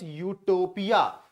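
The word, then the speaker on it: utopia: Pronunciation ध्यान रखिएगा, यू से हम इसको प्रोनाउंस करते हैं, इट बिकम्स यूटोपिया।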